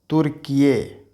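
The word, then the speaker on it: Türkiye: जैसे इसको हम बोलेंगे तुर्किये। क्या है? अपने नाम ये कर दिया है टर्की नहीं बल्कि तुर्किये।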